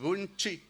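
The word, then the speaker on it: bunci: In the new Indonesian language, it is spelled B-U-N-C-I. Because the C is pronounced as C-H, C-I is pronounced as chi. And these words are spelled B-U-N-C-I but pronounced bun, chi, ka, chi.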